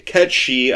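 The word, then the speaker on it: Cait Sith: it should including me K and K K Kat she I refuse okay Ki is not just in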